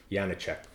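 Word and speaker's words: Janáček: Anyway, it's Janicek Quartet.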